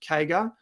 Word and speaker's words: CAGR: By the way, guys, whenever you see CAGR, that's how it's pronounced, CAGR, compound annual growth rate, what that means is growth on growth, CAGR.